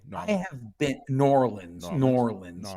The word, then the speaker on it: New Orleans: have been New Orleans norleans you have to say it like nor Orleans yeah I have been